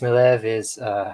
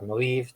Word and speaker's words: Maleev: Alex Maleev or Maleev, depending how you say it, is a great artist.